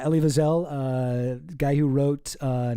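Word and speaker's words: Elie Wiesel: Ellie Wiselle. Eli Weasel. Oh jeez, what another uh Candace mispronunciation for the books. But yeah, Ellie Viselle, uh guy who wrote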